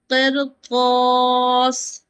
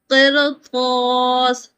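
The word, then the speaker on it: قرطاس: Although the kasra usually making raw light and if heavy letter follow the sakinah raw in the in the same word, the raw is pronounced heavy, okay? So, the first word is qirtas. qirtas I hope this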